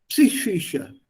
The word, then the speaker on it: Psyche: You have to pronounce it together. P-S together. On Ypsilon, E. It's pronounced as an E. So Psi. And then with a sh. Psyche.